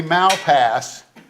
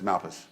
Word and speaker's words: Malpass: 236 Brothers yeah I just learned how to pronounce that that's all right did he do okay it was going to be Malpass until somebody walked up to me and said it's Malpass well we've been called Everything some people don't